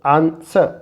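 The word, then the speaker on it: answer: will be रंग रंग यहां डब्लू साइलेंट है तो आंसर आंसर और यहां पर जब डब्लू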